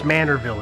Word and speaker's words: Manorville: in in the town of I believe it's Manorville is the proper pronunciation there the bodies that were found belong